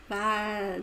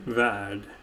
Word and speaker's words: värld: Yeah, it's more that it softens the R. Värld. Värld.